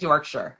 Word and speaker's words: Yorkshire: Yorkshire. Is that the right way to say it? I feel like it is cuz I I did watch The Crown. Um, I feel like it's Yorkshire.